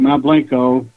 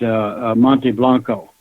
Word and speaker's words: Mount Blanco: We pronounce it Mount Blanco. If you're really doing Spanish, you call it Monte Blanco.